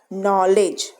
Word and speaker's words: knowledge: porridge it is called porridge then the word k n o WL e DG e knowledge here k is all so sudden and t